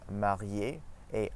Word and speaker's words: mariée: Some examples from French are marié et mariée, same pronunciation.